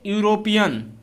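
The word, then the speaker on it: European: जैसे आप ले लीजिए यूरोपियन। क्या ले लीजिए? यूरोपियन। क्या लिखेंगे? यूरोपियन। ऐसे तो लिखा जाएगा। उच्चारण में क्या आ रहा है?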